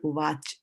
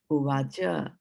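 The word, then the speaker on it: uvāca: So if cha doesn't have a bar in front of it, if did not have a bar, then you would have just said uvach. Now, because it has a bar in front of it, now you'll say uvacha.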